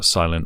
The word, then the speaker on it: Silen: again uh thanks to silent audio uh the t is silent uh for sending this